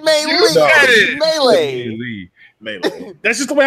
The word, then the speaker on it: Melee: Melee, wow. Melee, wow. But, because it sounded like I said May and then Lee. Fuck you. You said Melee.